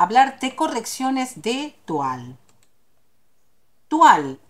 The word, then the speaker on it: toile: Toile es un término francés. Se escribe toile, significa paño en español.